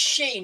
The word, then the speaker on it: Shein: It's Shein. It's spelled SHEIN.